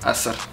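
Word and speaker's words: አስር: Asr.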